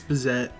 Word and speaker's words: Bazett: get man mcleer AKA Bez I'm pretty sure I pronounced that completely wrong you did uh butcher let's move on it's bazette we don't need to try